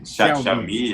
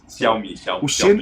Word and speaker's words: Xiaomi: Enfim, a pronúncia Xiaomi, exato. Xiaomi. O X não é X, né? Quando eu boto um X é meio que um SH, Xiaomi.